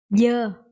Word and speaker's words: dơ: And this one, dơ.